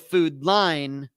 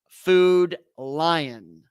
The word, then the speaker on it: Food Lion: on we're out okay if I'm gonna say Food Lion I really really gotta stress it so instead of food line Food Lion two syllables lion not line lie in uh but uh in